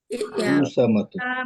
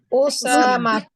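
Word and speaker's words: أسامة: এবার এই শব্দটা বলেন তো, এটার উচ্চারণ কি হবে? উসামাতু মা ওসামা বলতা উসামাতু, ওসামাতু রাইট, এটাও একদম ম হবে।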